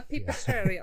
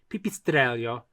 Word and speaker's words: pipistrello: So as it would be pronounced in Italian would be pipistrello. And so the double L would make the Y sound, and you'd also put the accent right before the double consonant. So pipistrello.